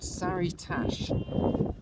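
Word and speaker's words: Sary-Tash: but this is a tiny village it's called saritash s-a-r-y hyphen t-a-s-h and to the left that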